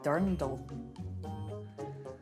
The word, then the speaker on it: Dirndl: How do you pronounce it? Dindel. Dindel? Dindel. Dindel. This is a dindel. Yes. What is a dirndl?